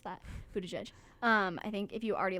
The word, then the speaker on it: Buttigieg: I think if you already like Pete Buttigieg, then Buttigieg, wow, love that I mispronounced that. Buttigieg.